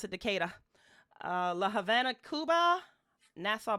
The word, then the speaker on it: Decatur: mom has limited relatives in decatur uh they pronounce it decatur uh la havana cuba nassau bahamas and those